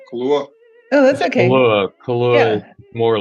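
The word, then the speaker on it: Kahlúa: uh White Christmas it's made with um some calore equal parts calore Bailey's and vodka with some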